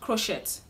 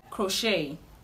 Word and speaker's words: crochet: This word is commonly pronounced crochet, but the right to pronounce this word is crochet, crochet, crochet.